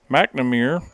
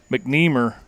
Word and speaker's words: McNeer: the center fielder Brody mamir and nothing but a loud out he rope that one to the Gap but mnir mcneer right yeah I say this I'm saying it wrong so Brody mcneer tracks